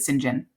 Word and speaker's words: St John: St period j o h n but you pronounce it singen anyway so that's him okay um then there's